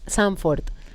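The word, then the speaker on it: Zandvoort: Sanfort porque acuérdense que se habla alemán allá, entonces muy muy No,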